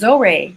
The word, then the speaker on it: Zohreh: Hi, my name is Zohreh. It's like Zo, and it's like Ray, like a stingray.